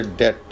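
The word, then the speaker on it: debt: Word बीटी यानी कि किसी वर्ड के एंड पे बीटी आ जाए या मिडिल में दरमियान में आ जाए तो उसमें बी साइलेंट होगा। जैसे डेट भी साइलेंट है।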